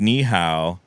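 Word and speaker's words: nǐ hǎo: So like ni hao, pinyinized is how it sounds. It's N-I-H-A-O. That's how you spell ni hao in pinyin, which is hello.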